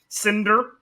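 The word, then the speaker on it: Sindr: just i'm just very confusing my character name cinder not now i know what you're thinking but it's it's it's spelled like this s-i-n-d-r that doesn't matter no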